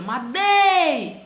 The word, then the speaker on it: madeira: Quando eu tenho a palavra madeira, madeira, tá vendo? A sílaba tônica, o dei, é a penúltima, então é um caso de paroxítona.